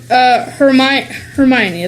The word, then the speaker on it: Hermione: In the book, Hermione, I think that's how you say it.